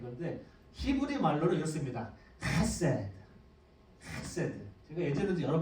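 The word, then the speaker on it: חֶסֶד: 헤세드.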